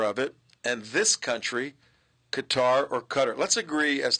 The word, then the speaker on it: Qatar: Well, I asked a reporter from AlGorzeera how to pronounce it, and he said Qatar.